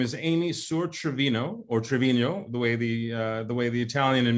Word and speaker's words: Trevino: Her name is Amy Sur-Trevino, or Trevino, the way the Italian in me wants to pronounce it.